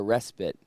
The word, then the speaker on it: respite: It's respit. Is it respit? I told you so. I like googled it. I said like how to pronounce it and it I heard it was like respit and uh I just sort of flew with it.